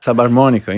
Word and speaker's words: Subharmonicon: Subharmonicon, yeah.